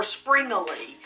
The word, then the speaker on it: Springele: The recipe is for Springele. Now, people pronounce either Springerle or Springele.